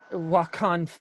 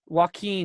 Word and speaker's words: Joaquin: you know and it's just like like how walk on what I can't pronounce his first name Phoenix played the jockey yeah Joaquin oh yeah Thank You Phoenix Joaquin Phoenix kind